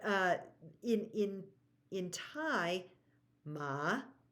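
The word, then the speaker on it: หมา: in in in Tha ma where we go down and up or Rising is uh dog ma High tone is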